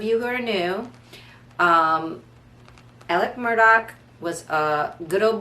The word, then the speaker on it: Alec: um again and it's if you looked at it you'd think it was alex but south cacalac it's alec so alec murdock um